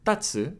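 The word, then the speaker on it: 立つ: here it's funny because if you stress the first character Tatsu it means to stand but if you reverse the stress then you put it on the second one it means the dragon actually one way of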